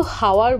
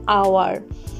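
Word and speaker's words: hour: টা সাইলেন্ট থেকে গেল আওয়ার আমরা কিন্তু হাওয়ার বলি না আমরা বলি আওয়ার এখানেও এইচ টা সাইলেন্ট থেকে গেল যে সকল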